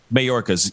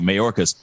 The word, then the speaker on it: Mayorkas: Wrapped up, walked out, and I see the press briefing with Mayorkas. Hopefully I'm pronouncing his last name. But anyway, right. Mayorkas? Mayorkas. Yes, thank you. Mayorkas.